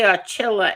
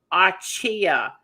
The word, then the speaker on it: Archilla: Chris Archilla, I always say Archilla and Edwin said that we are pronouncing your name wrong. Archaia. Uh like my chia desserts that I make.